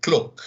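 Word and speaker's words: cloqué: would be the word cloak c-l-o-q-u-e it sounds like the word cloak but is french in origin that is a word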